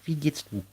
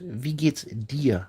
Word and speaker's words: wie geht's dir: Christiana, howdy Alexandra, wie geht's du? The pronunciation is wie geht's dir, not du.